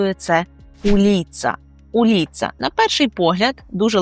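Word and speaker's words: ulica: У кожному місті є вулиці і вулиця польською - це уліца. Уліца. На перший погляд дуже легке слово, але звертайте увагу на наголос. Ми кажемо уліца.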